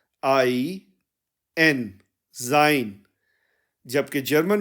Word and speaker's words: sein: में देखा था कि मैस्क में भी हमने जाइन यूज किया था और यहां न्यूट्रल में भी